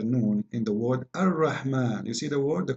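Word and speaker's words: الرحمن: So if we say Ar-Rahman in the Quran, it's coming the alif very short, but you hear me pronouncing the alif, Ar-Rahman. Ar-Rahman. This is not a fatha only, it is a letter.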